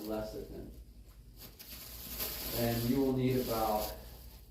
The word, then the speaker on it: lecithin: That might be spelled wrong, but it's pronounced lecithin.